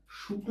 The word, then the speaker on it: শুক্ল: এবং এটাকে যদি আমরা শুক্ল নামে একটা শব্দ পাই সেই ক্ষেত্রে আমরা এটার উচ্চারণ করি শুক ল আবার এভাবে পাই অন